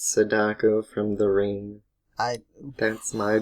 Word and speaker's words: Sadako: It's That's Sadako.